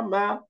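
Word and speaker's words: مَعَ: একইভাবে মিম ফাতহা মা, আইন ফাতহা আ, দুইটা মিলে কি হয়ে গেল? মা, মা। এই যে আইনের উচ্চারণটা খেয়াল করেন, মা, মা, মা, এবং উচ্চারণ তাড়াতাড়ি, টান হবে না কোনো, মা।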